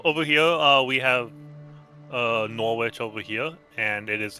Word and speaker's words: Norwich: So, you just dropped the W.